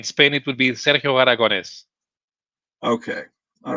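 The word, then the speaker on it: Aragonés: correct pronunciation of Sergio aragonus am I close to that yeah yeah in Spain it would be Sergio aragones okay all right you have you have to stress the the E A little yeah Sergio it's Sergio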